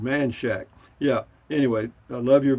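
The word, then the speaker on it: Manchaca: live right in between play spell manchaka but locals always yeah but locals have always called it manshack yeah anyway i love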